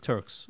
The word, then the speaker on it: Turx: Way, and Turks is like four letters, one syllable.